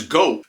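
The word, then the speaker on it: 五: The number 5 in Japan is go.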